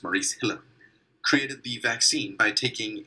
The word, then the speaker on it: Maurice Hilleman: Maurice Hilleman created, I think that's how his name is pronounced, Maurice Hilleman, created the vaccine by taking a sample from